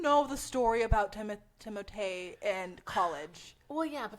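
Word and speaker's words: Timothée: press tour yeah so he was explaining in it it is timot yeah but he's not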